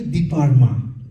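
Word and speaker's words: Dipa Ma: Dipama and Sharon and actually it should be deeparma. It should be Deeparma but I think it became like deep but they can't they westerners maybe they can't pronounce they take out the R.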